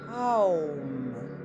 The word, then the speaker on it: Om: reviens au centre, puis place de nouveau les mains sous le front pour faire résonner 3 fois le son Om, que tu prononceras Aum.